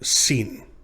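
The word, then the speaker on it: שׂין: Remember, the sun sets in the west is how you know this is the letter sin. Sin. Makes the sound of the S in sin.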